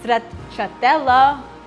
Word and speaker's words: stracciatella: So now it's time to make the second frosting and that is stracciatella whipped cream. We have to check the pronunciation.